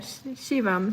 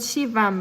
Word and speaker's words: Shivam: Shivam. So was it Shivam, right? Not Shiva.